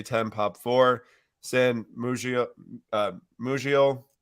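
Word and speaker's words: Musial: Ruth here PSA 10 pop four San Muji mujio how do you pronounce that again Museum all right cool psa9 POP3 uh one grade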